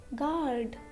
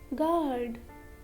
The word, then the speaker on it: guard: Letter U is silent after a G and before a vowel. For example, colleague, guitar, guitar, guidance, guidance, guest, guest, guilty, guilty, tongue, tongue, guard, guard, guess, guess, rogue, rogue, catalog, catalog, league, and guarantee, guarantee.